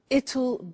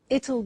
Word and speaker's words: it'll: now will is easy really it's just the pronunciation which is difficult I said tomorrow it'll be cold you notice how it will becomes it it strange pronunciation yeah so tomorrow it'll be cold it'll be sunny it'll be winter